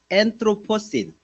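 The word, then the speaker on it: Anthropocene: 엔트로이라는 단어입니다. 엔트로 앤의 강세가 있죠. 엔트로신.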